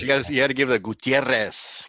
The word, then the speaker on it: Gutierrez: But you had to give the Gutierrez. Got to roll the R's on that.